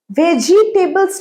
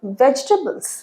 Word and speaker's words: vegetable: ভেজিটেবলস নয়, ভেজিটেবলস। ভেজিটেবলস, ভেজ টেবল, এটার উচ্চারণটা আমি একটু দেখিয়ে দিই, খুব ভুল করো।